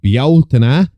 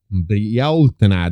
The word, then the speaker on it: Bealtaine: In Irish myth and later folklore, the festivals of Samhain and Bealtaine, that's how it's pronounced, the Americans, Bealtaine, the one you keep calling Bealtaine, that's Bealtaine.